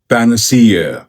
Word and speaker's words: panacea: इस शब्द की सही प्रोनाउंसिएशन है पैनासिया, पैनासिया, पैनासिया, पैन सी पैन सी पैन सी Panacea, Panacea, Panacea.